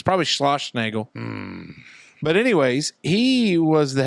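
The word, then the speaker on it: Schlossnagle: my Longo I can't say his name either slash Nagle slash Nagle s c h s c h l o s s n a g l e SCH slash Nagle slash slash Nagle it's probably SCH slash Nagle but anyways he was the head coach at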